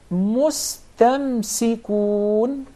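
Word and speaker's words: مستمسكون: Of course, we don't have any problem whatsoever with pronouncing the sin properly because it's followed by a letter that's already muraqqaq, so it will not be confused with the sad.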